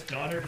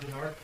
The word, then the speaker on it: Donard: last name uh it's donard d o n n a r d and last name j hn s o n all right thank you it's it's donard not dard donard I need to apologize